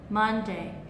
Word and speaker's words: Monday: tơi ở âm Tiết đầu tiên đâ mon Monday thay vì đ là Monday hoặc là Monday